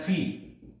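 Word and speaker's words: φ: करते हैं फी से, इसको कहा जाता है फी। काफी जने इसको फाइव भी पढ़ते हैं, लेकिन एक्चुअल में रियल प्रोनाउंसिएशन इसका फी है।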